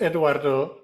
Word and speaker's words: Eduardo: Yeah, so it's Eduardo. The rest doesn't matter, and you can roll the R or not. But